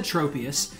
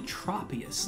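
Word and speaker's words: Tropius: name I've always said I've always said tropus but it's probably tropus like tropical like a tropical tree um all right there's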